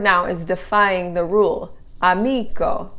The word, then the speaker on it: amico: Amico, the accent's on the next to the last syllable, is a rule breaker.